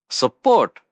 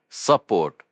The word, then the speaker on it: support: Support. A really important action word here. S U P O R T. pronounced like it looks. Support with the stress on the second syllable.